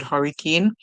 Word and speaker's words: hurricane: say like for example if you see this word hurricane you know this small word is Keen the e at the end is silent the a says a and then you know the word hurry right here the I is actually making the song like um e it's actually making the E song which the Y